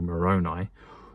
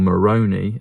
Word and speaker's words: Moroni: the angel Moroni or Moroni as it's cleverly mispronounced in the heretic film